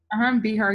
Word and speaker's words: Behar: Behar, yeah, former president of Starbucks.